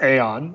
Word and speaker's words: Aion: also how do you pronounce it that's it's pronounced Aeon I I don't think I had anything to